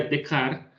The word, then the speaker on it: Descartes: La pronunciación sería de Car, eh, René de Car, un filósofo francés muy